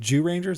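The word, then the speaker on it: Zyuranger: Sorry, you said Jew Rangers. That's Jew It's Ranger. ZYU. It's ZY, but in Japanese it's like Jew Ranger.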